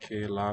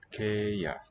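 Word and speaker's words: kēia: So this, not ke la, but ke ya.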